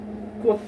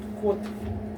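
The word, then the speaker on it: 곧: pronounced as D, and if it's placed in the last part of the syllable, then it's gonna sound as T. So another example is kut, kut, or it can mean in English as soon.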